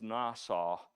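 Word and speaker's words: נסה: in this context means to test uh it's pronounced the word is nasau means to test so this story is a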